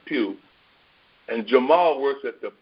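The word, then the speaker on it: Pough: you pronounce his name, Pugh. And Jamal works at the Pew. Only his is P-E-W, and Benny's is P-O-U-G-H, but it's still pronounced the same way, Pew.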